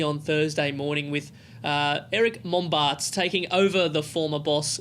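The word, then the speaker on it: Mombaerts: Because you might find it hard to pronounce his last name. Eric Mombarts. Is that right? Mombarts.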